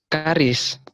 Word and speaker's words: Charis: Is it Charis? Charis? Christian? Yes, Miss. How do I pronounce that? Charis? Karis.